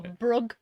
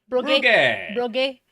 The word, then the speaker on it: Bruges: Is that how it's pronounced? Yeah, Bruges. Or Brugge. Brugge.